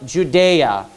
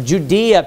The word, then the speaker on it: Judea: I want you to notice there it says, now when Jesus was born in Bethlehem, it says, of Judea. Or Judea, people were pronounced that both ways.